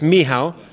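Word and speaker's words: Michał: it polish yeah it's it's a Polish name it's Miho but I'm fine with Michael as well okay and uh what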